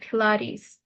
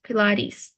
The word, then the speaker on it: Pilates: I try doing and then pronunciation of word pilaris so it's pronounced as pilis so e is like like we stretch it Pilates oh Pilates M okay very nice good job